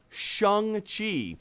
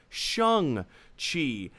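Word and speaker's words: Shang-Chi: on september yada yada the official answer is shang chi even though it's spelled s-h-a-n-g pronounced shang chi and i'll be honest uh it's this is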